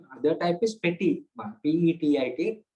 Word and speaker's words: petit: Or the opposite, or the other type is petit mal, P-E-T-I-T, not grand one, petit, petit mal, where it is known as absence seizures, which is sometimes common among children.